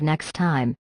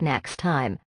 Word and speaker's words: next time: For pronunciation, when native speakers say next time, we do not say both T sounds. We drop the first one. So instead of next time, it sounds like next time.